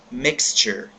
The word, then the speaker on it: mixture: Mas em inglês, esse som do X tem um som de KS, então fica mixture, tá?